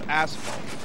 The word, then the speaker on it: asphalt: substance it's not called ash ash fault it's asphalt that's just how that's just the Thunderfoot pronunciation he's pronounced because he's British so he